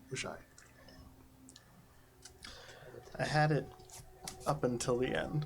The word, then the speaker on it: Oxai: Oxai in Vesk is pronounced with SH. Oshai.